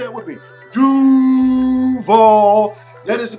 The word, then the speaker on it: Duval: you're at a concert it is pronounced doo ball say it would be doo ball that is the correct pronunciation of duvall it is not duvall county number 20 jazz